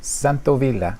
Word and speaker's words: Santaolalla: Santaolalla.